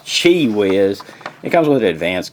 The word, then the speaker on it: QiWiz: It looks like QiWiz, man, but it's pronounced QiWiz.